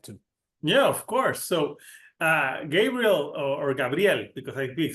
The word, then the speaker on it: Gabriel: Yeah, well, the way you're pronouncing it actually resembles the way I pronounce it because we all speak French in the band. So Gabriel.